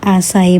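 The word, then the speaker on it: açaí: bowl Ito po ay ang pagpronounce po nito guys is asay bowl yan so Ito po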